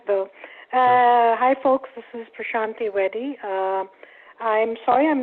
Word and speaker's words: Prashanthi: thank you sir Thank You Lance how about Prashanthi do you want to go next to my I hope I'm pronouncing your name at least a little bit